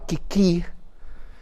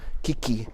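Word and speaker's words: 危機: Y me estaba hablando que la palabra crisis en japonés se pronuncia algo parecido a kiki en japonés.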